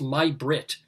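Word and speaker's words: May Britt: because one of the answers was swedish actress my brit and she said well it's spelled may but it's actually pronounced right she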